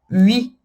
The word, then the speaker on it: huit: Então, huit é a letra 8. Tá? Aqui também é uma exceção, o T ele é pronunciado. Huit.